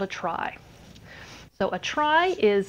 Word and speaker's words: trie: a try so a try is spelled t r i e and it's actually from retrieval but sadly it's still pronounced try just to confuse you